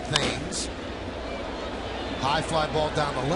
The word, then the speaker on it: Thames: Here's Eric Thames, spelled like Marcus Timms spells his name, but pronounced Thames.